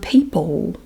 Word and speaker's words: people: And the word people. People. People. You don't pronounce the L the way other people would.